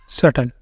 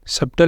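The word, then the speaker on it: subtle: यहां पर क्या बोलेंगे इसको सटल सटल सबटल नहीं बोलेंगे सटल डाउटफुल डाउटफुल यह हमने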